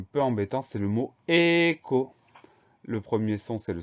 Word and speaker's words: écho: Donc, E accent aigu, ensuite on a le son K de écho. Ce son K, il va s'écrire CH. C'est pas logique, mais c'est ainsi, c'est le cas dans quelques mots, comme choral par exemple.